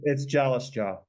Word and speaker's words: Jalasjaa: It's Jalasjaa. Jalasjaa. Jalasjaa, Sorry about that. I butchered that a bit.